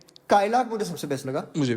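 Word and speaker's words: Kylaq: spell क्या किया जाएगा कायला कि कलाक कायला क्यों कायला उन्होने बोला है उन्होंने बोला कायला है ओके तो कायला इसको जो है वो प्रोनाउंस किया प्रोनाउंस किया जाएगा आप अपनी तरफ से भी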